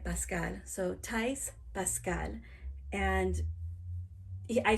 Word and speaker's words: Pascal: In Spanish, we say Pascual. But I'm pronouncing it Pascal.